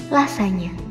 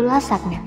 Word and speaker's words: lasagna: Lasagna. Pasti selama ini sering kamu sebut menjadi lasagna atau bahkan benar-benar seperti penulisannya yaitu lasagna. Menu satu ini harusnya kamu sebut lasagna.